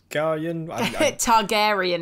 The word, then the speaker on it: Targaryen: He played Viserys Targaryen? Targaryen is how you pronounce the last name.